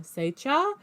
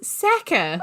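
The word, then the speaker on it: Sachar: And in his like little bio on the Holes book, it has in brackets His after pronunciation. Satcher, it says... Yeah, and it says Sacker.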